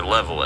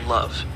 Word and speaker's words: LOVE: hands on, increasing their level as they go. Um, actually, it's not pronounced level. It's pronounced love.